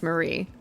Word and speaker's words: Mary: it's a bit like it's written Mary but pronounce Marie that's a little mean